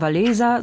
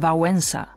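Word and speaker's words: Wałęsa: und Konkurs der Wettbewerb dieses l wird bei uns wie das W im englischen weekend ausgesprochen deshalb nicht etwa valesa sondern vensa und keine Angst vor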